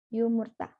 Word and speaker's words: yumurta: Raline artinya cover selanjutnya yumurta adlaah huruf y di depannya yumurta you mutarnya telur dibaca sama kayak bahasa Indonesia you Merta telur yumurta Yudha yang terakhir ada